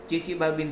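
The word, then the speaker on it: Chichibabin: इसके आगे टी लगता है, लेकिन ये टी जो है वो साइलेंट है, इसीलिए इसको चिचिबाबिन रिएक्शन कहते हैं।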